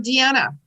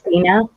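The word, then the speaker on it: Deana: What about Deanna? Deanna. D E A N A. Deanna. It's Dina.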